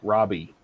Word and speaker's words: Ravi: Dash says mom had a kid name spelled Ravi, so she and other teachers marked him absent for 3 days. So my mom found out he pronounced it Robbie.